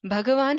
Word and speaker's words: Bhagavan: Bhagavan has two syllables, okay? Bhaga and Van.